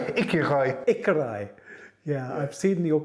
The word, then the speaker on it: Écureuil: Aquarial. Écureuil.